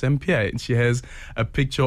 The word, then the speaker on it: Sampear: welcom it is s beer oh yes they pronounce it sambir when we moved to Soto in Orlando my